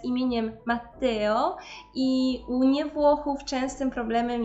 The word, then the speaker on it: Matteo: mi się z imieniem Matteo i nie Włochów częstym problemem jest wymawianie tego imienia jakby tam było jedno te i wtedy słyszymy Matteo natomiast mamy dwa ty które powinny być zaznaczone dlatego mamy Matteo i jest to rzecz